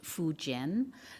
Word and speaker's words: Fujian: of the Mandarin language, that it should be pronounced Fujian. So I would like it be referred to as much as possible as Fujian when we're discussing it.